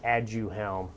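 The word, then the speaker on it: Aduhelm: have to pronounce it and you have to spell it okay there's a there's a brand name for the medications called add you helm it's probably a little easier a-d-u-h-e-l-m so add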